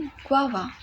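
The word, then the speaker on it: guava: चीज़ note करनी है, इसकी जो प्रोनाउंसिएशन होती है वो अक्सर लोग गलत करते हैं। फर्स्ट टू अल्फ़ाबेट्स को स्ट्रेस देते हैं गु, और फिर आवा इसको स्ट्रेस देते हैं लास्ट थ्री अल्फ़ाबेट्स को।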